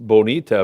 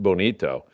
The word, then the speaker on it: bonito: all great stuff Omar why is it pronounced Bonita but spelled Bonito it should be pronounced Bonito but I don't know